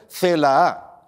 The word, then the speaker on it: Celaá: nueva ministra será isabel celaá cuidado no se la tela con dos as y acento en la segunda bien por pedro sánchez